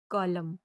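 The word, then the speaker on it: column: ई डब्ल्यू S news इसका दूसरा rule है कि जब एन के पहले एम आए तो एन साइलेंट होता है। जैसे ए यू टी यू एम N autumn P ओ एल यू एम एन कॉलम।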